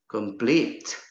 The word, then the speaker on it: complete: Complete. It is also a verb, so it is stressed on the second syllable.